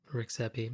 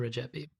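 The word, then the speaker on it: Rexhepi: show was published that i had incorrectly pronounced the name of the founder of akrivia as rexep rexeppe it turns out it would be pronounced and i'm probably going to butcher this as well if you speak albanian but i was told it's regep the regepi so my apologies i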